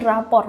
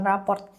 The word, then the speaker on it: rapor: Yang betul adalah rapor raport report card. Oh, mungkin raport dari report ada RT-nya kan. Nah, tapi kalau di KBBI rapor rapor. Oke, menurut KBBI yang benar adalah rapor.